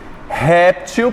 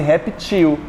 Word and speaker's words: réptil: Réptil, posso também fazer reptil.